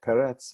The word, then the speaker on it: Peretz: It's unusual also in that the first syllable gets the stress, even though it's not one of those echo vowel words with 2 syllables with the same vowel, like Peretz, my name, and other words at